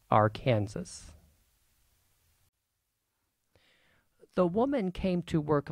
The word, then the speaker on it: Arkansas: Yes, in Kansas this river is pronounced Arkansas.